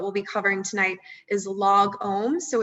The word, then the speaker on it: lagom: is log ohms so it's like the word log and then if you've ever been in a yoga or meditation class just like you say it or chant it it's om so it's like really rounding out that o sound uh and this is